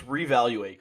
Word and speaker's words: R3evaluate: I wanted you to take the lead on the pronunciation. So it's reevaluate, correct?